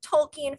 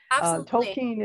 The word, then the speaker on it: Tolkien: question but if you're not a huge like tolkien fan or you just like really enjoy the